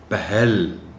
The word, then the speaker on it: پہل: خاص توجہ چاہیں گے۔ پہل، ہے پر زبر ہے، پہل نہیں بولنا، پہل۔ فصل، یہ لفظ عام